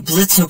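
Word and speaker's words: Blitzø: And then Blitzo puts the cell phone in the blender and turns it into a drink. It's Blitz. The O is silent.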